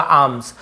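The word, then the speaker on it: alms: them यानी उन्हे आम्स यहां प एल साइलेंट होता है आर्म्स नहीं होगा आम्स आम्स यानी क्या होता है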